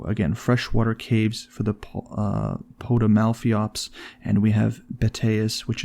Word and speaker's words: Potamalpheops: It is the Potamalphiops. Wow, that is Potamalpheops at the end, Pheops at the end.